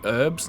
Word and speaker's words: herbs: I also found out that it is actually meant to be herbs, not herbs. And obviously we're used to saying herbs, and Americans say herbs. But it is based off a French word, I believe, where they do, it is more like herbs than herbs, and we've just added the her sound to it for some reason.